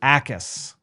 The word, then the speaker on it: Jacas: And this is not pronounced like someone in Happy Gilmore. Correct. Gabe Jacas.